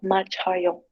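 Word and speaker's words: 맞아요: Acá lo que es la primera sílaba, como ven, termina en lo que es como una SH, se combina con la A que sigue, por si acaso viene siendo machayo.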